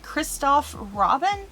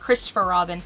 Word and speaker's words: Christoph Robin: But this is from the brand Christoph Robin, and I always want to call it Christopher Robin.